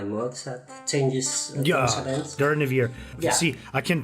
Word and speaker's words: Durnehviir: Durnehviir. Yeah. See, I can pronounce it properly now.